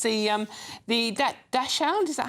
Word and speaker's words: Dachshund: It's the Dachshund, is that how you say it? Dachshund, yeah.